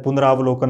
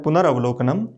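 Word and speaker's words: पुनरावलोकनम्: कई बार हम उच्चारण में गलत करते रहते हैं, पुनरावलोकन बोलते रहते हैं, तो ये सही शुद्ध शब्द है पुनरावलोकनम।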